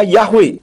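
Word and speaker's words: Yahweh: ha akhir Tidak kedengaran jadi Yod he wau he itu jika dibaca bunyinya yahwe dengan huruf he di belakang tidak kedengaran semua huruf Ibrani memang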